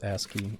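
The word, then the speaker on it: ASCII: It's pronounced Aski.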